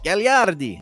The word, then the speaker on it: Gagliardi: We really enjoyed our time with Michael Anthony Gagliardi. Gagliardi.